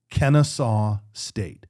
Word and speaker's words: Kennesaw State: Kennesaw State. Is that the way you say it? That is how you say Kennesaw State.